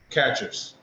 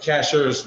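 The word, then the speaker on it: Chachere's: t-o you have t-o-n-y catchers free oh season that one yeah uh cashers like without a t i think they do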